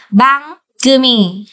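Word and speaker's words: 番組: Về cách đọc của nó chính là bang gumi.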